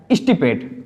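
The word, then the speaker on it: extirpate: एक चीज ध्यान देना बच्चों, इंग्लिश में मोस्टली जो आर होता है वो क्या रहता है? साइलेंट रहता है। तो जो इस वर्ड का जो प्रोनाउंसिएशन है वो क्या है? स्टिपेट।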